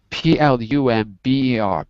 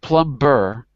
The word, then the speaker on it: plumber: something like plumber and plumber is spelled with a silent b so be like boy it's silent p-l-u-m-b like boy b-e-r p-l-u-m-b-e-r but we don't say the b so it's plumber plumber we're not plum burr but plummer even though